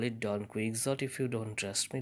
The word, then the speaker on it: Don Quixote: famous novel don quixote of seventies original spanish pronunciation is don quixote perhaps but in english we call it don quixote if you don't trust me look at the